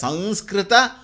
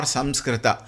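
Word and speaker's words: संस्कृत: It is not wrong if we spell it as Sanskrita or Samskrita. Sanskrita is technically correct. Samskrita is generally acceptable. I will not say correct or I will not say wrong. I will call it as generally acceptable.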